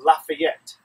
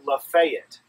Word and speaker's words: Lafayette: French great guy and if you were to ask all around you would say his name was General Lafayette so just exactly the same here but uh in Georgia its Lafayette I don't know why but I just think Lafayette sounds more manly and strong than not